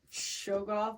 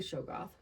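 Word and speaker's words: Shoggoth: anything in their path you pronounce it shogo I would say shog goth shog go h o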